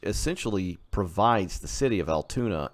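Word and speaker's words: Altoona: leads down into uh Lake Altona or Al I just said it wrong Lake Altuna which uh provides the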